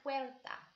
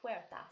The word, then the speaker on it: puerta: it las casas so the door is la puerta la puerta so look at the word and see how we pronounce it we're well it's up so the